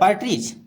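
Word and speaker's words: partridge: द पार्ट्रीज, यहाँ देखिए पार्ट्रीज मैंने वहाँ बताने भूल गया था। पार्ट्रीज यहाँ डी इसमें साइलेंट है, इसको पढ़ा जाएगा पार्ट्रीज। पार्ट्रीज में तीतर।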